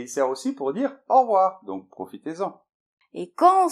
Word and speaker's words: au revoir: Et pour la prononciation, en général, on ne dit pas au revoir, on dit plutôt au revoir.